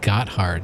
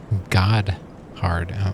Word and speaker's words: Gotthard: It's not Gotthard, it's God-hard.